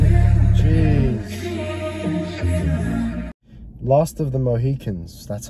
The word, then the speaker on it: Mohicans: Last of the Mohicans, that's how you pronounce it.